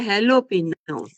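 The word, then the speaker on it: jalapeño: ने मम्मी को समझाया ज को ह पढ़ो मेरी अम्मा हां ये है हेलोपिनो ज को मेंलोपिनो लिखते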